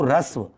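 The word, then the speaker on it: ह्रस्व: Actual में इसको हस्व ना बोल के इसको रस्व, इसका जो उच्चारण होता है वो रस्व जैसा होता है।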